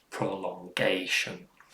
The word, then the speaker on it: prolongation: gay in prolongation and that tells you that the stress is on gay prolongation and it's not prolonged